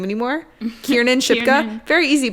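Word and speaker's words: Kiernan: say her name anymore kierin shipka very easy but Kieran Ken it's like one letter difference it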